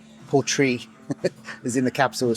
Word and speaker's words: Portree: So we've got the 10-year, we've got the Storm, the Skye, the Port Roux, 18-year, 25-year, 41-year, £350 for the 41-year, 25 mil, £350. Okay, so I said it wrong. Portree is in the capital of Skye.